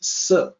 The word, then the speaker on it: 啬: when you study pinyin, they definitely teach you that the way to pronounce the E is like the sound.